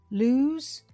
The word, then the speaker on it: lose: Listen, lose, loose. You can probably hear one has a Z sound and the other has an S sound.